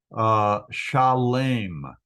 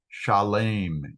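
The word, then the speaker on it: שלם: We already said it's Shalem. Shalem in Hebrew is how it's pronounced. Salem in English. So Shalem, it's like an SH sound at the beginning.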